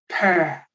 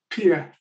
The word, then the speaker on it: pear: Let me just give an example: the word, the fruit, pear, yeah, pear, and the student maybe said peer. Yeah. So it rhymes with ear. Yeah. And that would be natural because if you look at the spelling, E A R, it makes sense.